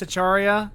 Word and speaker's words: Acharya: Brandon Carey here, joined by Acharya, as always. Do I ever pronounce that right? Yeah, you got it.